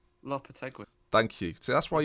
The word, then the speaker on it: Lopetegui: Kina, you're good at pronunciations. Yeah. How do you say his name? Lopetegui.